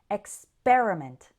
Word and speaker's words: experiment: In experiment, we pronounce the PER part as per, experiment. And in experience, it sounds more like peer, experience. It is the stressed syllable in both words, but it sounds slightly different.